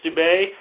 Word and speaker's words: Steube: That's Senator Steube, I believe it's pronounced, Steube.